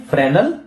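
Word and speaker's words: Fresnel: क्या है, फ्रेनल diffraction, S silent है यहां पर।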